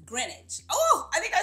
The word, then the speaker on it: Greenwich: always say it wrong I always want to say like green witch but it's Greenwich oh I think I